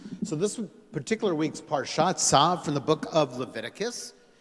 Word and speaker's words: Tzav: It's a tzadi and a vav. Tzav is how you say that.